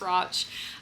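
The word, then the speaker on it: Radch: I had to look up how to pronounce Roch and say it to myself over and over and over as I was reading this book because the spelling is just so weird, but it rhymes with watch.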